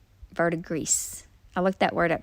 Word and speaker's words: verdigris: Yeah, the blue one is the one that does the like verdigris. I looked that word up, how to pronounce it.